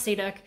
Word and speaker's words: cirok: for anywhere online it's a Slovakian dish called sea duck it's pronounced pronounced see duck spelled cir okay so what I was gonna